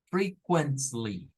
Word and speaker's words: frequently: lo vamos a leer miren como free O sea no es como fre es free luego vamos a leer acá como quent frequently frequently es de esas palabras